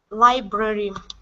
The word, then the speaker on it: library: it's library library okay one more time and watch the second R your first R is okay okay but you're rolling that next R you're using a hard R okay so it's library library all right very good